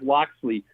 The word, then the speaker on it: Locksley: quick opinion on Maryland's new head coach Mike Locksley I might've said that last name wrong no you're good yeah Mike Locksley I it's about to say everything Maryland has